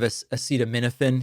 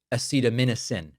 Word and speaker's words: acetaminophen: Now, sadly, sadly, Newsome mispronounced it. Instead of acetaminophen, he pronounced it acetamin.